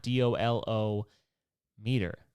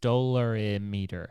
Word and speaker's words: dolorimeter: See, the problem is it's not DOLO meter. It's not dolometer. It's not dollarmeter. It's dolarimeter. There's an I in between the R and the unnecessary.